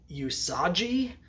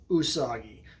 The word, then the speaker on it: Usagi: all I never knew how you're supposed to pronounce it I was like is it usaji or is it you soggy and it turns out it's neither of those